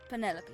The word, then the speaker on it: Penelope: can be bothered with all four syllables of it Penelope sounds a little ostentatious